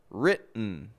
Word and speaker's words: written: So when an unstressed syllable begins with the letter T and ends with the letter N, we will usually make a reduction between the 2 letters and only pronounce the N sound.